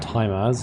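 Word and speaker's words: Tyma: Sixth one should be T-Y-M-A. Time as, the pronunciation for that one.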